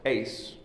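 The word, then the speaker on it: εἰς: Holy Spirit that little three-letter Greek preposition it's pronounced Ace It Is by me that's the southern pronunciation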